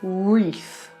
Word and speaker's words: wreath: a weird one because it's a silent W in this case W is for wreath I know it's ridiculous we don't need that W there we could take it